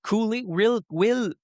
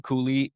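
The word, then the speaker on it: Cuylle: Rickard Rakell, Will Cooley. Comment tu prononces ça, toi? On a un débat à chaque fois. Presque comme Logan Cooley. Cooley? Pour elle, OK. ça se prononce presque de la même manière.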